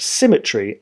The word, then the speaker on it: symmetry: to go astray third have you ever heard anyone read this poem in such a way that symmetry actually rhymes with I I'm not sure that